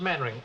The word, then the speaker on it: Mainwaring: Actually, it's pronounced Mannering.